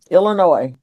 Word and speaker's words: Illinois: Illinois. That is the correct pronunciation. The S on Illinois is silent.